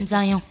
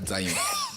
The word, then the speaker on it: Nzayon: Nzayon. On dit pas Zayon. Nzayon. Nzayon.